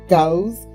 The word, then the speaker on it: Gouz: You know, Gauss that rhymes with cows.